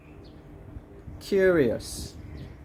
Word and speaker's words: curious: i'll say it aloud where's the stress curious so we put it on the first syllable who's curious to see